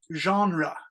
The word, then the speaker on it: genre: only thing is here that French word is genre genre it's a French word with French pronunciation in English it means